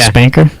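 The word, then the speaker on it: SPNKr: uh the original rockets the spanker is that how you say it the espn kr rocket launcher yeah spanker the dual dual barreled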